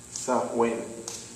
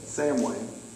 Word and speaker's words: Samhain: software and that's how you pronounce it south wing but it's spelled sam wayne said let's just call it sawing and guess when they